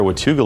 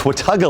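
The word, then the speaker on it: Watauga: I pronounced it earlier, Watuga Lake, but a viewer who is familiar with that area corrected me. It's Wataga Lake, and that's near Hampton, Tennessee.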